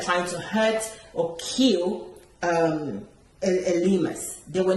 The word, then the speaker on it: Elymas: young lady, and then let's say was it pronounce it for me, Elymas, yeah?